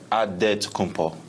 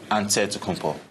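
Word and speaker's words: Antetokounmpo: helps set the record straight of how you pronounce it in a field wait we gotta save with a D so it's odd dead to come Paul but in the Greek way you save at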